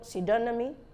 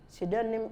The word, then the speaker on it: pseudonym: pH and Silent s so p is silent in these words psychiatrics pneumoniae pneumatic psychotherapy psychotic psychology psychologists pseudo pseudonymy pseudonym pseudonym and pterodactyl pterodactyl so you see that